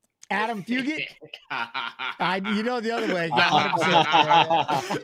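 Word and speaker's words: Adam Fugitt: I'm excited this old man that's how you pronounce his last name Adam fugit you know the other way hey trust me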